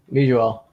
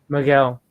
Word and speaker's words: Miguel: All right, Mijuel. Mijuel, is that how you say it? Mijuel? I'm sorry. Miguel. Miguel. Well, to be honest, it's Miguel, but with my American accent and all that, it's Miguel. Yeah.